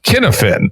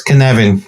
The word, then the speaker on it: Cynefin: pronounced it something like Kinefin. Dave, how do we actually say that? It's Cynefin. It's Welsh. It's phonetic, but we have a different alphabet.